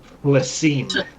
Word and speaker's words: Phlyssim: Plassim.